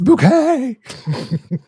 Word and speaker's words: Bucket: It's like Hyacinth Bucket. It's Bouquet!